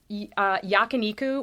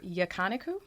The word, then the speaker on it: yakiniku: Chicken yakiniku or yakaniku. So they don't give you a pronunciation guide. Did not come with pronunciation, but I'm going to go with yakiniku.